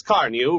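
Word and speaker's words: Carnu: For the sake of your car and for your own pleasure, buy a can of Johnson's Car New right away. It's spelled C-A-R-N-U.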